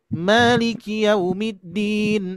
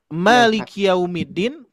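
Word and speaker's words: مالك يوم الدين: Tapi kalau misalkan Bapak Ibu membacanya Malikiyaumiddin, yang memiliki hari pembalasan siapa? Allah. Oh, itu. Malik. Hati-hati. Manusia, Malikiyaumiddin. Kalau dipanjangkan ki-nya Pak, itu artinya adalah milik sayalah hari pembalasan.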